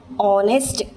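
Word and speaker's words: honest: ऑनेस्ट क्या पढ़ाएगा? ऑनेस्ट है ना? वो अर्ध चंद्र वाला जो ओ होता है वो ऑनेस्ट एच जो है यहां पर साइलेंट है।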